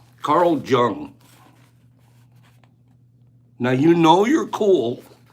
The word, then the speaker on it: Jung: in Carl Jung so took half my life to decide to finally say his name right I always said Carl Jung give me five people that said they always thought that this psychotherapist guy's name was Carl Jung Le I admit it